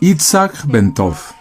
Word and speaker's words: Itzhak Bentov: Su nombre completo se pronunciaba Itzhak Bentov, pero para la mayoría de la gente era conocido simplemente como Ben.